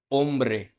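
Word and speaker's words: hombre: एच मैंने पहले भी बताया था, एच हमेशा वर्ड्स के अंदर साइलेंट रहते हैं। जैसे कि फर्स्ट लेटर फर्स्ट वर्ड पे चलते हैं। ओला, ओला मतलब हेलो। सेकंड है ओम्ब्रे, ओम्ब्रे मतलब मैन। थर्ड है आओरा, आओरा मतलब नाव। अब नेक्स्ट लेटर है जे।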